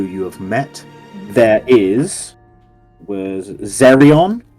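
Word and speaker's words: Xerrion: There was Zerion, spelled with an X, X-E-R-R-I-O-N.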